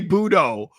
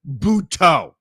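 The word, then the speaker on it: Buttó: He kept calling Jose Budo Jose Buto.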